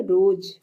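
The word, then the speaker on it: rose: means हड्डी next है रोज आर ओ एस ई आर ओ एस ई इसमें भी ई जो है साइलेंट है रोज मींस होता है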